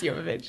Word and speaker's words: Jovovich: It's pronounced Jovovich.